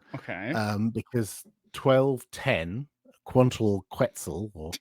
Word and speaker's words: Quantal Quetzal: um because 12 10 quantal quetzal or quantal quetzal or have have you pronounce it was the first release